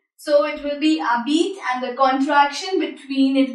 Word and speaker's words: habite: As you know, H is vowel in French, H is silent, H is mute. So it will be habite and the contraction between it will form t'habite, t'habite.